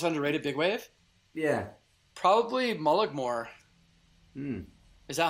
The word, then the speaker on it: Mullaghmore: Probably Mullaghmore. Is that how you say it? Yeah, Mullaghmore, yeah.